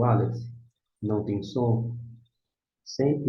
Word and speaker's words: Aleph: O Aleph não tem som em nossa língua portuguesa. Não tem nenhum som correspondente. Seria uma consoante muda, que nem o H na palavra homem em português.